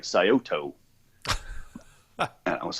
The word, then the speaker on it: Scioto: And the name of the river is Scioto. Scioto. And if you look at it, it looks like Scioto.